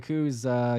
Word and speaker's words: Koo: Koo. Weedosaurus was saying as a Korean, I'm gonna need you to pronounce his name right.